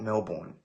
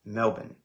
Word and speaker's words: Melbourne: guys just say Melbourne just pronounce it like bin Melbourne you're fine do people in the